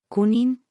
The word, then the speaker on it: Cunin: La gente insistía en añadir una G después de la N.